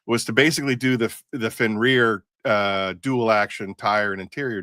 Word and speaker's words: Fenrir: All right, because I said Ferner. Fenner? No, it's Fenrir.